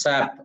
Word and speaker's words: SAP: in with respect to SAP, we tell the trainees don't use SAP. We have to use pronounce as SAP only.